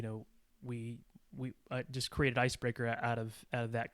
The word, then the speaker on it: Icebrekr: my latest uh Venture it's called ice breaker it's spelled differently it's IC B re KR so first two e's